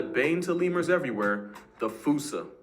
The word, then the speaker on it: fossa: to lemurs everywhere the fusa although with its spelling I'm pretty sure it's actually fossa but the day I pronounce it like that is the day I